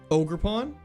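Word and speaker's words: Ogerpon: Ogre pawn.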